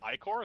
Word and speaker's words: Ichor: Isn't it Icor? Isn't that how you say it? Oh, is it Ichor? I mean, I call it Icor because that's how I heard people.